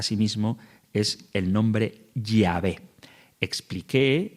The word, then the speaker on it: Yahvé: que significa Señor, e intercalaron las vocales de Edonai a las consonantes de Yahvé, de tal forma que quedaría Jehová. Pero no es así como se pronunciaba. Muy probablemente la forma correcta de nombrar a Dios es Yahvé, tal y como hacemos en la Iglesia Católica.